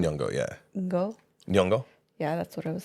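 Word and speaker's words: Nyong'o: um she's voiced by Lupita L yongo yeah yongo yeah that's what I was saying I'm sorry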